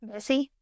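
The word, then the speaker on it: Vesey: name I don't want to say it wrong vessie vessie okay vessie Southern okay so Denmark vessie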